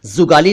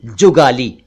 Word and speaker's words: जुगाली: जुगाली भी आप जानते हैं, जुगाली नहीं, जुगाली।